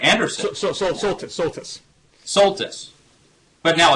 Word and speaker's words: Soltis: Cupp, who challenged us to call out Rush Limbaugh, and our good friend Kirsten Solstice. Am I pronouncing that right? Anderson. Soltis.